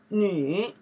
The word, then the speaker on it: 女: Nǐ, we pronounce the nǐ by itself.